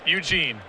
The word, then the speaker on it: Ugin: want salim gar slime girl how do you pronounce ugin it's just dugan that one's easy eugene eugene the spirit dragon yeah frontier sees the